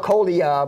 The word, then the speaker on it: Colia: It's spelled Colia, but it's pronounced Colia.